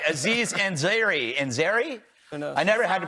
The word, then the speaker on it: Ansari: Ansari? I never had to pronounce his name before. Ansari.